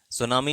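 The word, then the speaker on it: tsunami: सुनामी जो शब्द है टी एस यू एन ए एम आई जिसमें टी साइलेंट होता है।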